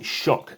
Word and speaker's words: Xok: Today we're going to set up, play and review for the game Shark. Yes, that is how it's pronounced.